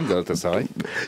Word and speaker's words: Galatasaray: Vous êtes économiste, politologue, ancien professeur à l'université de Galatasaray, je le prononce bien? Oui, très bien, Galatasaray.